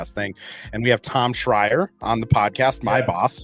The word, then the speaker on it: Schreier: I've corrected people before, but yeah, Schreier. It's a Austrian. It means screamer in German, Austrian.